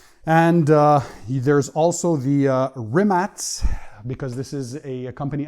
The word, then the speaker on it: Rimac: uh there's also the rimats because this is a company out of croatia so it's written rimac r-i-m-a-c but you pronounce it rimats and it's the navera